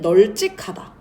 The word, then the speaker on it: 널찍하다: 널직하다 같은 경우에는 널찍하다라고 발음을 하셔야 맞습니다.